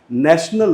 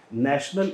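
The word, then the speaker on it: national: तो ने जो है वो न में कन्वर्ट हो जाता है यहाँ पे। और ये आप देखिए, ये ऑप्शन यहाँ पे बिल्कुल सही है, नेशनल। ये ऑप्शन सही नहीं होगा, यहाँ पे ये श्वा साउंड इसके बाद आ गया, नेशनल नहीं होगा, ये होगा नेशनल।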